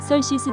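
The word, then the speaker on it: Xerxes: 있게 되었다 그러자 교수가 설시스 더 그레이트라고 거둔다음 썰 시스대왕이란 뜻인데 대체 썰 시스가 누군고 이미스터 썰시스는 무리가 자신있게 발음하는 그세르크세스 대우 안개 미국식 발음이다 그렇다 우리는 크세르크세스로 알고 있다 오늘은 영어 공부하는게 목적이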